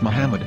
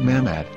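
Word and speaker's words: מחמד: after the H according to Ben yehuda's Hebrew English dictionary it is correctly pronounced as Muhammad not mammad so how we're going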